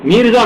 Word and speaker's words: میرزا: میرزا مہدی، یہ نہیں ہے مرزا نہیں ہے، میرزا مہدی کیا ہوا؟